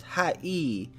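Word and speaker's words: はい: The word Hi is actually pronounced hi E.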